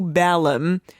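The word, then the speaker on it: Balaam: and they came to balum and spoke him the words ba B I correcting you because this is a famous story and everyone pronounces it as balum and I want people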